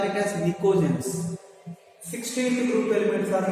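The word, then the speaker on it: pnictogens: As P is silent here, I can call it as nicogens.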